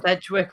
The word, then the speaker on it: Sedgwick: today we have Sedwick have I pronounced your surname correctly it's edgewick but I know that that's obviously depends whether you've got that collection of letters or not yeah so thank you